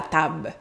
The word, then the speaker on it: table: Par exemple, la table, le B et le L, on va laisser tomber le L, on va dire la tab.